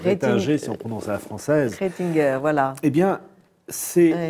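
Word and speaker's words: Retinger: J'ai envie d'évoquer Monsieur Rétinger. Ah oui, le fameux Joseph Ratzinger, ou Rétinger si on prononce à la française.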